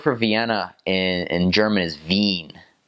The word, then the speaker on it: Wien: well the word for Vienna and German is Veen Veen is how you pronounce it and in English it weirds are you thinking that says Wien because it's a w at the front but